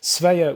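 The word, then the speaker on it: Svea: called the sveya tribe who became the vikings sveya was spelled s-v-e-a and they actually of course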